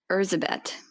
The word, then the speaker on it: Erzsébet: the Blood Countess, and I did find like a pronunciation for her name in Hungarian, and I'm gonna butcher the last name, so I'm going to go for the first name, which I'm also going to butcher, and it's Erzsébet.